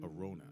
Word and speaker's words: Arona: Arona is how you pronounce her name.